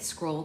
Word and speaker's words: Skroll: Nearly everyone working at Scroll came here, and Scroll, just so you guys know, is spelled Skroll, so it's like a scroll and scrolling, but like funny.